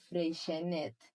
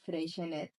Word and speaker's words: Freixenet: I'm going to tell you, Nalini, how I think I would pronounce it, and it would be Freixenet. Okay. Freixenet. Because it's from Catalonia.